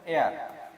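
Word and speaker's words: heir: তো এখানে হেয়ার আছে, এই এয়ার এর উচ্চারণটা আপনারা একটু খেয়াল করেন, এয়ার। এটা যদি হেয়ার হতো, এই এইচ এর উচ্চারণটা হতো তাহলে এটা হেয়ার হতো, কিন্তু এটা হেয়ার না, এটা এয়ার।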